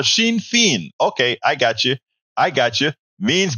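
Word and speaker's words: Sinn Féin: But it's same phonetically. Sinn Fein, but I said Shawn Fain. Oh, Sinn Fein.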